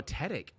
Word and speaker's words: Tedick: Is it Tiedick or how do you say it? Oh, Tedick.